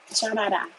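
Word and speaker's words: 加拿大: Chanada. Yeah, that's how you say it in Mandarin, Canada.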